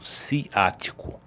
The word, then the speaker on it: ciático: atingir esse famosíssimo nervo ciático o nome sempre e levanta dúvidas a pronúncia certa do nome do nervo é ciático com c de casa como perguntam muitas vezes